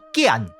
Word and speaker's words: 件: 的声调，所以这个字的标准音就爱读作简。